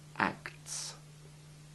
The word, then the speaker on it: acts: It's very easy to lose the T sound in act and fact, and to slur the plurals. Listen again to the correct pronunciations. Act, acts.